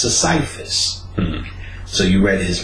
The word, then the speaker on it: Sisyphus: So the next day I went to work, I looked up Sisyphus, which they said, people think it's Sisyphus, but it's pronounced Sisyphus.